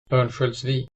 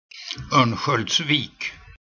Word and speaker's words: Örnsköldsvik: Pronounce. Hello, Killer. What a big fan. Let's consult Forvo. Örnsköldsvik. Some voices allowed, some are not. Örnsköldsvik.